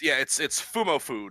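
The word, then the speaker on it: Fumoffu: on there is I didn't paste Fumofu. it. Yeah. I was actually gonna comment on Not- that earlier, but I wasn't sure if you. I just realized that like 5 seconds ago. It's Fumofu, not so it's the funny.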